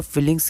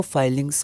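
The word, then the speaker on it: filings: यहां पर फिलिंग्स की जगह हम लोग इसको फाइलिंग्स प्रोनाउंस करते हैं।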